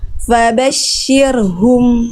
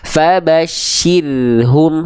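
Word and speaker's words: فَبَشِّرْهُمْ: Fabasyirhum. Nah, jadi tipis gitu ya. Fabasyirhum. Syirhum. Jangan syir ya.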